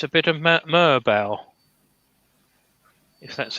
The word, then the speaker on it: Merbau: So I think it's a bit of Merbau, if that's how you pronounce it.